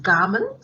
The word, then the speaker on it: government: Government is pronounced garment.